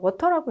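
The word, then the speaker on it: Watir: 그리고 마지막으로 나와 있는 이렇게 적혀 있는데 읽을 때는 그냥 워터라고 읽으시면 되겠습니다. 이거는 루비를 기반으로 하는 웹 애플리케이션 테스트 프레임워크의 일종이 되겠습니다.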